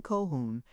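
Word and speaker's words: Colquhoun: On the floor above us are Miss Kolkun Kohhun and her cousin Miss Cochburn Sinclair Coburn Sincler.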